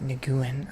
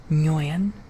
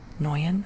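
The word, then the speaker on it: Nguyen: It's not Niguan. I know that I struggle to pronounce Nuan. Noan, I think. Joseph Noyen.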